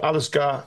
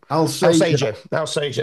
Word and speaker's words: Alsager: Alisgar. I can never pronounce it. Go on. Alsager. There we go.